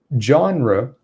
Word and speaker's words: genre: is pronounced the same genre it's it's a tricky word because it's originally from french and we're basically trying to copy that french pronunciation i think the french it wouldn't even be jaw it would